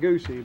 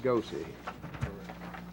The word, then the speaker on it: Goosey: Not Goosey, but Goosey.